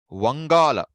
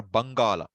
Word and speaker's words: Vangala: So Vangala or Bangala, both you'll hear.